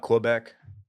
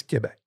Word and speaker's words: Quebec: Brad sure you're saying Quebec City is it not Quebec it's it's Quebec okay dude I've been saying it wrong as probably most Americans or definitely most Texans for a very very long time I mean they're not